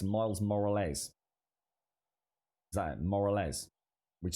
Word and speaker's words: Morales: I've always pronounced it as more or less. More or less. Miles Morales. Moral Ez. Yeah, that don't help, Bob. Moral Ez. It's Miles Morales.